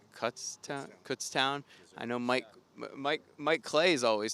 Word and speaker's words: Kutztown: It's Kutztown.